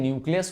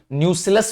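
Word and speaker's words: nucellus: तो इंटीग्यूमेंट्स क्या करते हैं, इंटीग्यूमेंट्स में न्यूक्लियस होता है, सॉरी न्यूसिलस होता है, न्यूक्लियस नहीं न्यूसिलस होता है। सर ये न्यूसिलस क्या होता है, न्यूक्लियस नहीं बोला, न्यूसिलस, स्पेलिंग देख लो।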